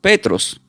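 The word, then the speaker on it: Πέτρος: no del hebreo y se pronuncia como Petros, p E t r o s y significa piedra.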